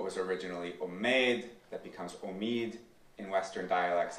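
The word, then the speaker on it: امید: Persian and U pronunciation so words like um that would have been pronounced omade um come to be pronounced Omid also in U also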